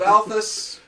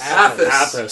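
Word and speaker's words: Athas: we are traveling to the burnt world of Athus. I believe I said it right this time. Yes, Athus.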